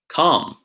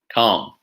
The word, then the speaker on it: calm: is it Emma look exactly the silent L so not walk or Salman or calm no walk salmon some other examples might include calm doubt receipt lamb climb try it walk salmon calm doubt receipt lamb climb